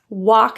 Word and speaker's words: walk: Walk and talk. Very commonly, those L's are pronounced, but we really want to keep them silent.